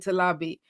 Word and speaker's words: Talabi: name for you so my surname talabi you know people often struggle with it's not hard but just knowing how to pronounce it but just recording it on there so it's like to lobby so you hear it you know exactly how to pronounce my name so if we're doing